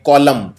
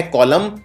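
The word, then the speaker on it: column: लिखते हैं ट्यूएम और इसमें सबसे कॉमन गलती यह है एम के बाद देना है यह उच्चारण नहीं किया जाता सिर्फ बोलते हैं और टर्म लेकिन आखिर में MB जाता है और बिल्कुल इसके मिलता जुलता शब्द है जिसको बोलते हैं कॉलम प्रॉब्लम के अंदर भी आखिर में एन आता है और इस LMB का उच्चारण नहीं किया जाता है तो यह कॉलम और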